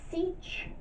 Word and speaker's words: sech: So we're going to have y equals "seech" x, and that is how you say that "seech" of x; that's the hyperbolic secant, and I can define